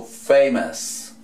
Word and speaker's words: famous: en inglés a esta terminación, O-U-S. Listo, y se pronuncia S. Famoso, famous.